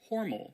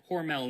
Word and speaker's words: Hormel: Or should I say Hormal because while the company pronounces it Hormel now, at least on their commercials, I guess originally it was Hormal.